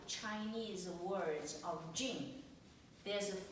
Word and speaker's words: 静: In Chinese is the pronounce is a jing.